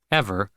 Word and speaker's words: EVR: The fact that he was merely a small partner in EVR, pronounced Ever, the city's hottest gastro lounge, a club Charlie's